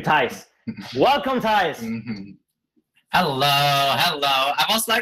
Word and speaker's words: Thijs: His name is It's not Colento. It's actually Thijs.